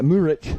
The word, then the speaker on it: Murich: And I think Murick is on the park now. Murich. Sorry, we corrected the pronunciation yesterday. Murich.